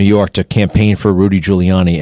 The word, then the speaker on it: Giuliani: Who who remembers when George HW Bush came to New York to campaign for Rudy Giuliani and he called him Gouiani? Gul Gul.